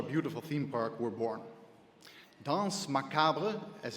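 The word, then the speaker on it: Danse Macabre: Dance Macabra, as it's pronounced, is the successor to our classic spokes lot, Haunted House.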